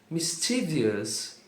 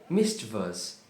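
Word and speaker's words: mischievous: Muitas pessoas falam misous, mas são só três sílabas. E a pronúncia correta é misous.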